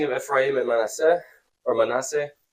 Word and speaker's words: Manasseh: Then we have the blessing of Ephraim and Manasseh, or Manasseh. How do you say it? I say it differently. Manasseh. I'm used to the Spanish dialect. So Manasseh.